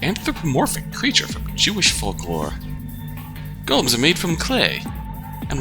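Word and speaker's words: GOLM: He has to be referred to by that last bit, which is of course Golem. Much to his surprise, this ends up being pronounced like Golem anyway.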